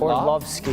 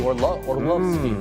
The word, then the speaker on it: Orlovsky: Or Tan Orlovsky. I actually think that's the accurate European pronunciation of the last name as well. Love, not Orlovsky. Orlovsky.